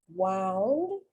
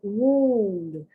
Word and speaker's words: wound: I wouldn't know whether the pronunciation was wound, like you wound a clock, wound, or if it was wound, to be wounded, to be hurt.